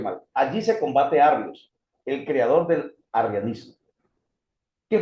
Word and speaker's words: Arrio: a estos hombres nuevamente porque creo que lo pronuncié mal. Allí se combate Arrios, el creador del arrianismo.